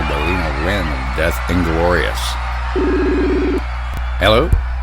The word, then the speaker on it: Galina: I am pronouncing that right. Galina Rin? Galina, yeah.